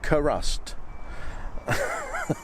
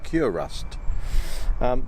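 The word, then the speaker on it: Kurust: got any cure rust he said oh crust but it's spelt k-u-r-u-s-t and it cures rust so i think the manufacturers are pretty confident that the manufacturers would want me to pronounce it as cure rust so what you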